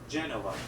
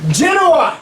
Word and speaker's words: Genoa: venice was at war with i'm going to pronounce it here genova genoa yes genoa and as a welcome home party